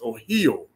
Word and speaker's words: Ohio: where it comes from the correct way you pronounce the name Ohio is Oho there's a watcher or